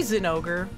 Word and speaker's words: Zinogre: legia Chris legris oh I say Zinogre cuz in Japanese it's googa so it would be Zinogre cuz there's no z sound the Japanese alphabet is legris in I'm